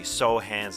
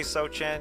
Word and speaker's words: Sochan: joining us and remember Spurs Draft pick Jeremy sohan's name is pronounced Sohan I did say sochan yeah it's a Polish American name I knew